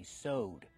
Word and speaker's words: sew: is so use the long o sound like no and go so use so with a sewing machine what about the past form in the past we say sewed we just have the